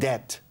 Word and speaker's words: debt: Turned debt. Turned it. ¿Cómo se dice deuda? Deuda en inglés. Debt. Debt. No hay B. B. No.